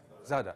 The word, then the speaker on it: Zadar: How do I pronounce it correctly? Zadar.